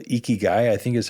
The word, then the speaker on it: ikigai: the Japanese culture there's a concept it's called ikigai I think is how it's pronounced and it's this diagram of where an